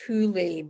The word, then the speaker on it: Hole: It's written as Harry Hole, but I think it's pronounced Hule because yeah, that's Norwegian.